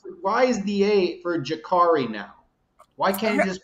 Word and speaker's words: Jacurri: Jacurri, man, Jacurri. My bad, bro. God, I, God. can we talk about this for a second though? So when you pronounce curry chicken, which is basically spelled the same way, Right, Jacurri.